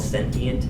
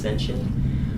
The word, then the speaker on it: sentient: here's a new word for it it's called sentient s n t i n t can also be pronounced sensient um that's having a central nervous system connected